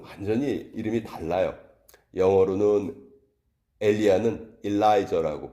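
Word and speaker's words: Elijah: 비슷하죠 그 영어로는 완전히 이름이 달라요 영어로는 엘리야는 엘라이저 아고 발음을 하고 엘리사는 엘리샤 이렇게 발음을 합니다 그러니까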